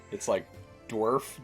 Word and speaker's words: Dwerf: It's like Dwarf, DWERF is his first name, and then it's like NUBA, like Nubba 3.